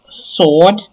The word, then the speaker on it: sword: family here we have sword not swore not swore there's a the w there is silent so sword the conscious of that.